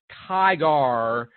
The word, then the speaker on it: Tigar: District Judge John Tigar, it's probably pronounced Tiger, but it's with an A, so I'll be phonetically correct. John S. Tigar, who was nominated by President Obama in 2012 to the U.S.